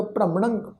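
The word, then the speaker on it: ਭ੍ਰਮਣੰ: भ्रमणंग पब्बे पैर अद्धा रारा, मम्मा नाने उत्ते टिप्पी की मात्रा का नासक उच्चारण होएगा भ्रमणंग।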